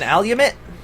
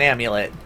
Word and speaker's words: amulet: right along here an alumit yeah I got an alumit I I'm joking it's an amulet I intentionally uh sometimes I intentionally mispronounce things because I try